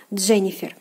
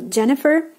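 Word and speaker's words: Дженнифер: to be pronounced so in English we don't like um pronounce the last R sound but in Russian has to be pronounced following Russian language rules Jennifer so Jennifer and Jennifer so that's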